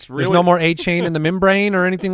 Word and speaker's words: Achane: Devon Achane is the way that he has asked his name to be pronounced.